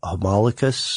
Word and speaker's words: homunculus: People were conducting experiments to see what would happen, to try to create life, with a homunculus, or am I pronouncing that correctly?